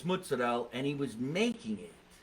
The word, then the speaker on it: mozzarella: I say it right I think it's Jersey to say mutts yeah that's very slang fresh mutts yeah but it's mozzarella and he was making